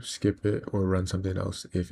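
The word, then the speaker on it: elif: Multiple conditions with it's spelled weird, but it's else if.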